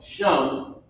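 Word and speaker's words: שָׁם: So, Shum, is how you pronounce it.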